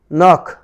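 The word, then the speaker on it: knock: এবার রয়েছে নক, নক, নক। এরপর রয়েছে নাখল, নাখল, নাখল। তাহলে এখানে দেখলে এন এর পূর্বে, প্রতিটি এন এর পূর্বে কে ছিল, কিন্তু তার উচ্চারণ হয়নি।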